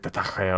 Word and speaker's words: détaché: It's probably pronounced like detaché or some bullshit, I don't actually... Détaché.